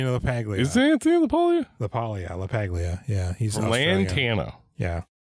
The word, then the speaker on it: LaPaglia: LaPaglia.